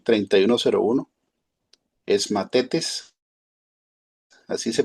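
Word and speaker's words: μαθητής: G 3101 es matetes, así se pronuncia.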